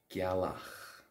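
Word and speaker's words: gealach: common term used for moon in Irish is gak Gak G now that's a feminine noun in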